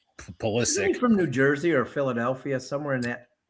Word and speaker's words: Pulisic: much anyone from Europe, call him Christian Pulisic. They put a CH at the end, but here it's pronounced Pulisic.